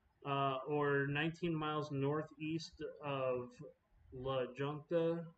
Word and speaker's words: La Junta: 19 miles northeast of La Junta, or La Junta. I guess that would be how it's said in Spanish, because J is usually H.